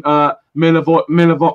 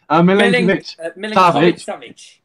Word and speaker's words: Milinkovic-Savic: Milivojevic. Oh, I keep saying it wrong. Milinkovic-Savic.